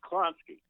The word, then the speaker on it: Klonsky: It's Klonsky.